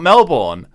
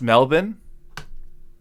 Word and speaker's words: Melbourne: I have an idea recently learned that it's Melbourne really it's not Melbourne uh I didn't know that so it's pronounced melin sometimes when I'm abroad